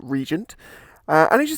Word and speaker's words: RGNT: one classic SE so rgnt is a Swedish company you pronounce it Regent and I should say